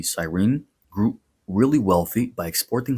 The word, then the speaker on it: Cyrene: In the 5th century BC, the Greek colony of Cyrene, that would be Cyrene, grew really wealthy by